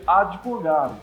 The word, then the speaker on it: advogado: pode usar esse E por que não existe essa vogal aqui às vezes um som de ir um pouco mais prato até como né advogado uma pronúncia correta dessa palavra você advogado podemos claro que o